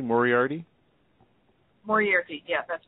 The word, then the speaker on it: Moriarty: Moriarty, yeah, that's correct.